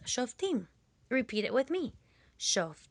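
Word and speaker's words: שופטים: book in Hebrew the Book of Judges is pronounced shim repeat it with me shim the shim or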